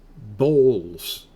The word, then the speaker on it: bowls: The O makes an O sound in this case. And some people pronounce the W here. I don't, but I'll do it pronouncing the W. Bowls. Bowls. I just say bowls.